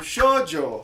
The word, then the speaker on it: shoujo: O shoujo é assim que se pronuncia, minha gente. Na realidade, eu vou falar a real pra vocês. Eu fiquei quase meia hora tentando aprender a falar essa palavra. E é difícil pra caramba, mas é shoujo.